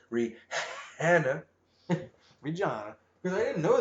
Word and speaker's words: Rihanna: I'm pretty sure her name is pronounced Rihanna.